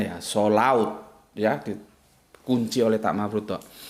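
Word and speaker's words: صلوة: Sholaut. Jadi gitu bacanya ya. Sholaut.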